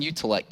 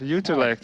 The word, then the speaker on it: Utrecht: You live in Utrecht or something that's similar to Yes, that, very right? good. Utrecht.